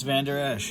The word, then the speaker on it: Vander Esch: That's Vander Esch.